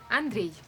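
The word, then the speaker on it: Андрей: On a un réalisateur russe qui s'appelle Andrew et j'aimerais bien savoir comment je dois prononcer son nom de famille. Andrew, André? Andrei.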